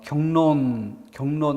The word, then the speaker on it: 격론: 그래서 디귿을 격론 그러니까 경론 이렇게 발음해 보면 앞말의 받침 기억이 이응으로 바뀐다는 것이고 뒷말의 리을이 니은으로 바뀌는 그러니까 이건 상호동화죠.